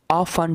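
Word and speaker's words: often: These animals, ये जानवर, आर हैं होते हैं, ऑफन टी साइलेंट है, ऑफन मीन अक्सर, अक्सर रिप्रेजेंटेड नुमाइश की जाती है या पेश किए जाते हैं इन डेकोरेशंस नुमाइशों में।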